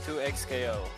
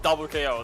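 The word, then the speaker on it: 2XKO: The X is silent. I'm about to silence you. I don't care. It's 2X KO. I'm not calling that game double K.O.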